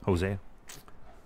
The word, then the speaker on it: Hosea: Hosea.